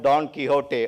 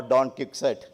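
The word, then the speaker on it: Don Quixote: In leadership classes sometimes we talk about Don Kiote or Don Kiket English or American pronunciation that we may use of Candis this the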